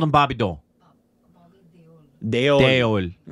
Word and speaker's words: Deol: Anil Kapoor, Bobby Dole. Bobby frickin' Dole. Is it... How you pronounce that last? We always called him Bobby Dole. Deol.